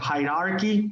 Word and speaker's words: hierarchy: hierarchy charges hierarchy hierarchy forget about the second r hierarchy no high r key and i had trouble